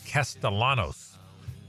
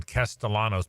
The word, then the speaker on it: Castellanos: It's Castellanos. She's like the pronunciation czar. That's right. And so, thank you, Lauren. Castellanos.